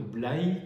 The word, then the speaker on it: Blaye: caprais de blaye et j'insiste sur la prononciation de blaye comme on dit là bas alors que chez nous